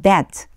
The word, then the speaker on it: debt: And forgive us our debt. 여기에 발음하실 때요. B가 발음이 안 나요. 영어에서 참 어려운 게 묵음이라고 하는 거거든요. 소리 안 나요. B는 없다고 생각하시고 that 이렇게 이제 읽어주시면 돼요.